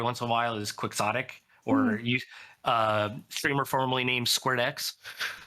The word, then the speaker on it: Quixotic: I need you to teach me now because I butchered it. Quick sot tick.